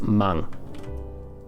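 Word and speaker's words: 万: kanji just for 10,000, which would be in this case pronounced mang, right?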